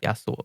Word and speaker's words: Yasuo: Sure, it's Yasuo.